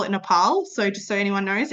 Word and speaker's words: Nepal: And so I often refer to Nepal or as they call it Nepal. So just so anyone knows, it is actually pronounced Nepal.